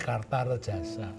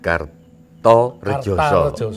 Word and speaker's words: Kartaredjasa: Tapi karena So itu nulisnya pakai A. Kartarejasa. Dibaca orang hari ini Kartarejasa. Jadi nama asli ini. Jadi Bambang Ekoloyo Budet Kartarejasa. Kartarejasa. Kartarejasa. Kartarejasa. Kartarejasa bacanya.